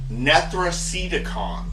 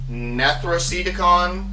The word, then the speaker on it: NETHRACEDICON: And I mean, same syllables, NETHRACEDICON, Necronomicon. It's the same. While we're doing this, let me go ahead, let me go ahead and count them. NETHRACEDICON has 5 syllables.